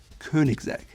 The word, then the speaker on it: Koenigsegg: To me, it sounds like Koenigsegg. Again, Ö and not a very pronounced G at the end.